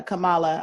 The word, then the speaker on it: Kamala: and I think it's is it pronounced camel Oh Oh Kamala I thought it was Kamala Kamala Harris I think you're right yeah Kamala um yeah it is Kamala because I love phonetic